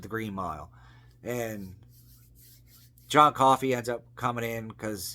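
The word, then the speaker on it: Coffey: Michael Clark Duncan plays John coffee like to drink but not spelled the same uh Sam Rockwell's in it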